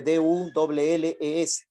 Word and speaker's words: Dulles: El secretario de la CIA, Alan Dulles, ¿ya? Se escribe D-U-L-L-E-S, se pronuncia Dulles.